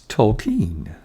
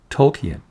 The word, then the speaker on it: Tolkien: Bill corrected my pronunciation of Tolkien. He said, it's Tolkien, not Tolkien.